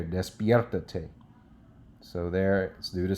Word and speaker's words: despiértate: Okay, so te is the first one. Ta is the 2nd syllable. So the 3rd syllable from the end is pierre. Well, there's 2 vowels. Always choose the 2nd one, so it's going to be option right there.